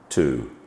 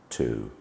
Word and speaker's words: two: T and O, two, makes the sound two.